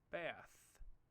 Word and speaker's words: bath: different pronunciation as well the pronunciation we learned before is called a voiceless sound as in the word bath this is a sound that